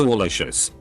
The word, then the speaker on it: Alicious: Someone came in and said she had her name legally changed to Alicious, pronounced like a combination of Al and Delicious.